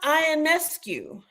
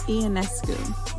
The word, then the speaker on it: Ionescu: we are honoring Sabrina ionescu I say it right it's an askue but you were close okay yeah so uh KD did three for that so let's take it away Sabrina iancu a basketball virtue ofo